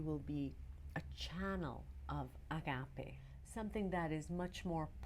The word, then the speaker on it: agape: I think the Christians took that on, and this is what we call agape. Agape. Some people pronounce it agape or agape, is a divine love and being a channel for that and sharing it.